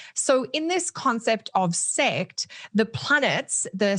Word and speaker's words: sect: the Hellenistic concept of sect. That's spelled S-E-C-T. And I know my Aussie accent can sometimes play around with how the vowels come out. So I wanted to spell that out.